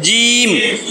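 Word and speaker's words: جيم: শক্ত করে বলতে হবে জিম জিম যাতে জিম বললে আমার জিহ্বার মধ্যে তালুতে যাইয়া লাগে তাহলে বুঝবেন আপনার উচ্চারণ হইছে জিম জিম জিম আর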